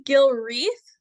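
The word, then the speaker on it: Gilwreath: role in in the yeah it's Gil wreath like the wreath on a door um I am the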